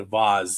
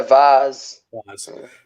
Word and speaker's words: V*A*S*E: with me tonight is christian from the band voz did i pronounce that correctly yeah vaz you got it i saw on i think